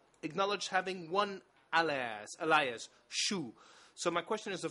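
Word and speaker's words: Chou: spell it out uh in uh the French version it is written c h o u CH like cabbage in French no I did not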